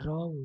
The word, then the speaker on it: wrong: of catch is catches silent letter in wrong is w opposite of r is